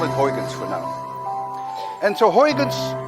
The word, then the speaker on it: Huygens: Actually, a Dutch person would pronounce it as Huygens, but you don't have the ui in your language, and you don't have the ch, let alone that you can say Huygens.